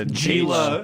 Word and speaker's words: Gila: Oh, well, yeah, it's spelled Gila. It's It's Gila. It's Gila H monster. H sound G.